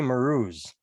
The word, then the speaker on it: Marouz: And today we have a guest, Sheri Marouz. Did I say it correctly? You did.